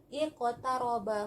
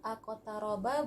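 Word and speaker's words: اقترب: Maka kita bacanya iqtaraba, bukan aqtaraba, bukan uqtaraba.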